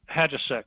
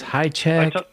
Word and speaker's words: Hajicek: How do you pronounce his last name? Hadjasek. Hadjasek. Okay. Yeah. I wasn't sure if it's Highcheck. I've heard it pronounced so many ways.